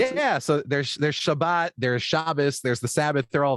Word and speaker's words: Shabbos: So Shabbos, or Shabbat as people call, I pronounce it Shabbos because my ancestors are from like the backwaters of Poland.